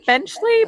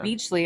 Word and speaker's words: Benchley: his name was uh Peter blechley Bley benchley benchley I keep wanting to call him beachley and I think it's because there's a beach involved I don't know why